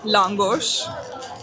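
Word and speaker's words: lángos: So, we're trying a traditional Hungarian langos, which is good pronunciation.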